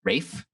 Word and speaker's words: Ralph: like fiennes or something i'm pretty sure it's ralph finds no it's refined according to google rafe r-a-y-f is how it's pronounced interesting so how